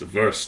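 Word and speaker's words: WVRST: what's it called it's called worst or pronounced ver oh yeah they got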